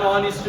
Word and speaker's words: honest: one dash onist man which is a silent letter here an honest man or a honest man